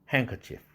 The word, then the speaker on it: handkerchief: kindness를 kindness, handkerchief. 이렇게 발음합니다.